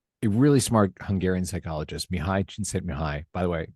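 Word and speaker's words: Csíkszentmihályi: Which is a really smart Hungarian psychologist, Mihi Chin Mihi. By the way, it's been me a long time to find out how to say that properly. That is how I pronounce his name.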